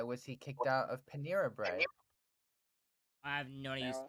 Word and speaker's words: Panera: you know how to spell Panera, I didn't mean to be joking or anything.